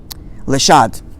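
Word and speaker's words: לשד: The shed, I'm going to pronounce the word is Lishad.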